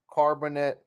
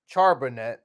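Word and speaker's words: Charbonnet: the main positions got Michael Wilson Stanford Zach carbonate charbonet it's just exact charbonet sorry to pronounce that right let's go with it UCLA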